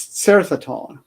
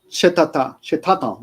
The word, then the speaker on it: Certhaton: Learn to pronounce its name properly. It's Certhaton. For the first, because Bruno had been saying Chetata the whole time, he couldn't pronounce Certhaton properly.